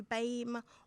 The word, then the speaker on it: BAME: So today's podcast is called To Bame or Not To Bame, and I know that it's not pronounced BAME, it's pronounced BAME, which is Black, Asian, Minority Ethnic.